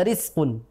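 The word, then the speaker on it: رزق: yang sering terjadi adalah huruf Zai sukun itu terbaca Sin ya harusnya Riz terbaca rizqu banyak yang seperti itu jadi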